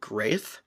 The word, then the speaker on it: G'reth: Liz says that this was very common for dragon names back in the dragon age that they would all have a G sound, a hard G with the apostrophe on there as well.